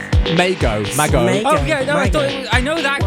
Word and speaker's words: Mago: be later be a guest mix from Mike Meo of Boom glitch records and I'll tell you